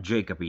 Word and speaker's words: Jacoby: How do you say this last name? J A C O B Y Scott Jacoby stars in The Little Girl Who Lives Down the Lane. Is it Jacoby? Jacobi? I say it's Jacoby.